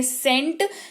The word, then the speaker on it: scent: Spelling तो जरूर SC से चालू होती है, लेकिन उच्चारण जो है वो सेंट होता है।